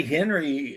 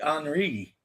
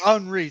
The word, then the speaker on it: Henri: The letter H at the front of a French word. Okay. Is never pronounced.